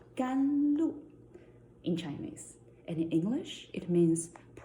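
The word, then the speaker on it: 甘露: Today, because of the weather, because of my mood, I choose the tea called gan lu in Chinese. And in English, it means precious dew. So follow me. Let's pronounce it again.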